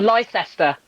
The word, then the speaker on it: Leicester: Yeah, because it's spelled Leicestershire. Yep. Yeah. Leicestershire. Yeah. Thank you for saying so. Or Leicester.